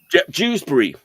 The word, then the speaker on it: Dewsbury: Dewsbury. Dewsbury. Okay. Rhymes with Shrewsbury. Literally the only town in England that rhymes with Shrewsbury is Dewsbury.